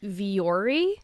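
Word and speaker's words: Vuori: oh gosh okay listen this is called v viori i think it's how you pronounce it it is v u o r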